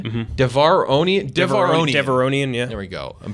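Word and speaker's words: Devaronian: So Clancy Brown's character, Berg, is a Devorian. Mm-hmm. Devoronian, yeah. There we go. I'm bad with pronunciations.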